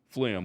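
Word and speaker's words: phlegm: from no not once flim we know where that comes from got that g we just need to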